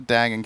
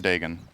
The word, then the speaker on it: Dagon: need to decide now is it Dagon or Dagan Dagon Dagon okay that's how I say it right say Deon